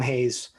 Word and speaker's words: Hayes: this guy's name before haas no it's hate they call him hayes eric hayes surprised you